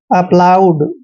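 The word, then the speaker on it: applaud: ए का उच्चारण ए करते हैं और डबल पी को हमने पे पढ़ना है। एल का उच्चारण ले करेंगे और ओ यू को आउ पढ़ना है। डी को हमने डे पढ़ना है।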